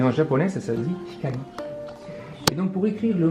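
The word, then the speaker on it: 光: écrire ce symbole-là, et si on le prononce à la japonaise, on va l'écrire hikari. Et donc là, j'ai indiqué que la prononciation, c'est hi, ka, i.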